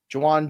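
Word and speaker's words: Jauan: healthy Devon Smith tonight Jawan Jennings or Tilman no one ask Jawan by the way in the chat today nobody everyone's just calling him Juan do do you do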